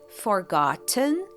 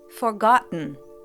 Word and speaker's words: forgotten: It's cut off at the back of the throat. Compare. Forgotten. Forgotten.